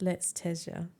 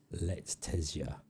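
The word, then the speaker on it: Letizia: Dark Shock says it's pronounced Let's Tezia. Let's Tezia.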